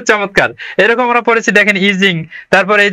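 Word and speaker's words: Yijing: এরকম আমরা পড়েছি দেখেন ইজিং তারপর এই যে এখানে আছে বানানটা ওয়াই আই জে আই তারপর হচ্ছে এনজি কিন্তু এটা হচ্ছে ইচিং হ্যাঁ এরপর দেখেন যে সিরিয়ার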